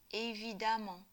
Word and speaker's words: évidemment: Attention à la prononciation, on dit amant. Pour un adjectif en ANT, on construit l'adverbe avec amant. Donc en fait, amant avec E ou amant avec A se prononcent de la même façon.